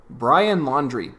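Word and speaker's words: Brian Laundrie: just found out that his last name is actually pronounced laundry brian laundry that is the most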